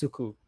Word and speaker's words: Suku: And what the first good sleep I'm was sorry, I think it's pronounced Suku. Sukuyu Mix. Yeah. Chikoyo Mix. I think people call him Suku.